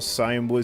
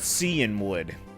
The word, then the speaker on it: Cianwood: So it is Cianwood. Okay, I'll call it Cianwood. Like sea and wood.